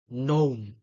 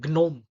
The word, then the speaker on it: gnome: a sign champagne design gnome so you're not saying it like s sh design and gome no not like that so we have to